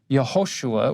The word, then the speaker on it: Yehoshua: The Aramaic name, you can put either a Y or a J because they're both pronounced with the Y sound. The long form, Yehoshua, or the short form, Yeshua, that's what Jesus would be known as. You wouldn't go back in